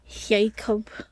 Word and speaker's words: Jakob: Jacob. Just spelled like Jacob.